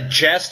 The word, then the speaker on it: Gest: either a Gest or guest it's spelled g s some people say it would have been pronounced Gest some people think it would have been pronounced guest but the actual word